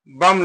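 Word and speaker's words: balm: जिसे बी ए एल एम क्या लिखा है बम लिखा है क्या लिखा है बम लिखा है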